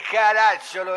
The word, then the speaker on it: Caracciolo: Sì, ma lei sbaglia all'accento, qui è Caracciolo, le ho detto.